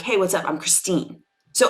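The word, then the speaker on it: Kristine: been consistently and internationally called now my name is Christine spelled with a k um I'm very open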